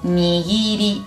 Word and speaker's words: nigiri: Ojo, como son hermanos, ga, gi, ge, i, se va a leer gi. K es ga, ki es gi. Por ejemplo, nigiri. Nigiri es un tipo de sushi. No digo nigiri o algo así.